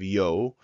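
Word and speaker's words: ㅛ: word Oh in English here we have yo and it's pronounced just like that yo and basically it's the same as the English slang for yo so here we have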